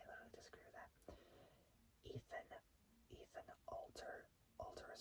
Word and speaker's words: Alter: Ethan Alter is spelled A-L-T-E-R. It's like saying the word Walter, but taking out the W. So taking out the W and just sticking with the word alter.